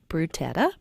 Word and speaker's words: Butera: And joining us to tell us a little bit more is Chief Tom Butera. How do you say it? Say it again. It's Butera.